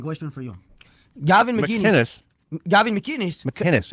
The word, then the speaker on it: McInnes: McInnes. It's a hard C. McInnes? Yeah, there's no G's.